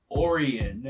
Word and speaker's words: Orion: Sorry, it's apparently the Pirates of Orion.